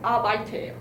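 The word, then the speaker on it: Arbeit: 독일어는 아바이트예요. 아바이트. 아바이테. 근데 아르바이트 이 알 발음을 혀를 굴릴 필요가 없어요.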